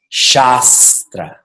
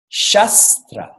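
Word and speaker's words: शास्त्र: name and becomes the shasta shasta means scripture and if you don't understand this you make the long a short a and it becomes Shastra what does chester I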